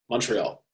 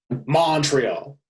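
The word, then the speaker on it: Montréal: Montreal. I say it like Montreal. It's all one word.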